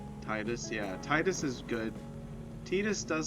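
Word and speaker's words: Tidus: I always said Titus, but I know it's technically pronounced Tetus.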